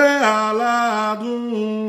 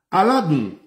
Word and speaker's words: aladun: Aladun, que la N cuando se pronuncia en un yorubá bastante acercado a lo nativo, la N se convierte en nasal y se omite. Entonces, por eso es que podemos escuchar aladu.